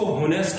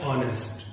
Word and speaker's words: honest: इसकी spelling HONEST है, लेकिन हम इसको होनेस्ट नहीं प्रोनाउंस करते हैं, हम इसको बोलते हैं ऑनेस्ट।